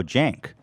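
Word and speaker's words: Cenk: here this was actually great this guy uh senk is that how you say his name uh oh jank from the young turks he's like hassan's uncle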